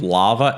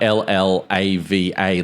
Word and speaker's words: LLaVA: And then so the second one was, you pronounce it sort of LLaVA, LLaVA, Large Language and Vision Assistant.